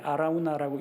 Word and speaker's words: 아라우나: 아라우나나 오르난이나 자음은 다 똑같습니다. 모음을 어떻게 하느냐에 따라서 발음이 조금씩 달라지는데 아라우나라고 읽기도 하고 역대기상에서는 오르난으로 읽기도 합니다.